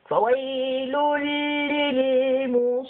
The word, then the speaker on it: فويل للمصلين: The amazing part here is that we're pronouncing almost four lambs and we have only one and two and three. Three lambs appearing, but we will be pronouncing four by saying فويل للمصلين. So we have four lambs.